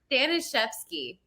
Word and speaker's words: Staniszewski: It's Staniszewski. How do you say that again? Stan. Staniszewski. I guess technically it's like Staniszewski, but Staniszewski. Yeah, it's Polish.